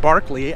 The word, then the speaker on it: Berkeley: Its founders named the area Berkeley, and I believe it should be actually pronounced Barkley after an Anglo-Irish archbishop named George Barkley. I believe that's how you pronounce it.